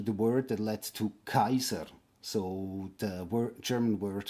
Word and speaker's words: Caesar: And yes, it's Kaiser and not Cesare or something like that because the pronunciation